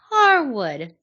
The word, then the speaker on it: Harwood: Dax Harwood. No D. No D.